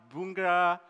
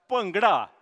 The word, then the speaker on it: Bhangra: I I hear that people say Bhangra bhungra Bhangra is correct pronunciation I now know as